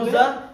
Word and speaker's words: scusa: আচ্ছা আমি কি বোঝানোর চেষ্টা করতেছি জায়গার মধ্যে নরমাল যখন আপনার এভাবে আসবে এসেছি তখন স্কার্পে স্ক্রিবেরে তখন উচ্চারণ কি হবে? স্কুজা, হ্যাঁ তখন এসেছি যেমন হইব নরমালি স্কুজা ঠিক